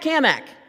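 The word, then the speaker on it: Cammack: Hey, Cat Kamak. Now, he always made a point to say my name right. and he put an emphasis on the Mac because he was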